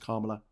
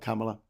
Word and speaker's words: Kamala: And Christina's telling us it's pronounced Kamala, not Kamala.